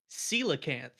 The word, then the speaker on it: Coelacanth: Coelacanth. coelacanth. Yeah. It You. doesn't look like how you would say it.